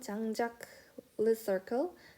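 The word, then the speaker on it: Jean-Jacques Lecercle: 그 다음 장자크라고 읽으면 돼요. 장자크 르서클 calls these variations the remainder.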